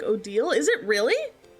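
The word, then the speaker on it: Odile: love how her name is actually said like Odal. Is it really? How do you know this? Who told you it's pronounced Odal? I ain't never heard. That's what the dev said. Uh, odal. Huh? I say Odial cuz I'm a freak and I didn't know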